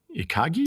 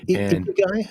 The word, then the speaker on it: ikigai: The Japanese term, I'll probably mispronounce it, ikagi? Ikagi, yeah, I think, yeah. Yeah, that's reason to live, literally translated. No, sorry, ikigai, is it? Yeah, I think ikigai, reason to live. It's ikigai. You're right.